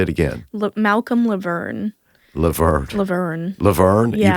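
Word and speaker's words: LaVergne: you pronounce it m say it again Malcolm lever lever lever lever you pronounce it as it doesn't look like l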